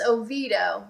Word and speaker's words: Oviedo: don't know this one I did look up its Oviedo that's the anglicized pronunciation originally it was oh yeah Wow but now it's a Vito yes I I completely